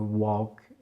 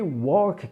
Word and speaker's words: walk: Ça ne se prononce absolument pas walk pour deux raisons. Déjà on a le A qui se prononcera plus O. Walk. Walk. Et en plus, vous avez certainement remarqué que le L, on ne le prononce pas.